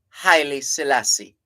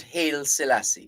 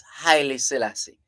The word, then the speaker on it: Haile Selassie: near three miles the school itself is uh highly Selassie not hail Selassie we have a tendency to pretty top and say hail Selassie it's highly Selassie that's the correct pronunciation so after the crowning